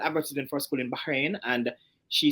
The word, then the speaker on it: Bahrain: we tend to say Bahrain, Bahrain, just as it's spelled. But for the Arabs, there is a sound where the H is. So it's actually Bahrain.